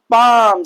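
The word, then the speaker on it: palm: यानी कि एम से पहले एल साइलेंट होता है। एफ से पहले एल साइलेंट होता है। के से पहले एल साइलेंट होता है। और डी से पहले एल क्या होता है? साइलेंट होता है। क्लियर?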